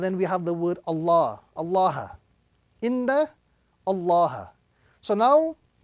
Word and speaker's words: Allah: If it is a fatha or dhamma, the rule is we attach a round sound, not a flat sound.